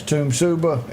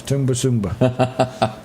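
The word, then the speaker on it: Tumbarumba: If you're not from there, it's Tumsuba. If you're from there, it's Tumbasumba. Yes, we looked there.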